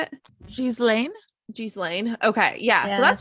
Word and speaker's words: Ghislaine: So everybody in there called it Ghislaine or Ghislaine or Ghislaine. So it was all different ways, but her brother said Ghislaine. So I'm going to call her Ghislaine because I would assume her brother knows how to say her name.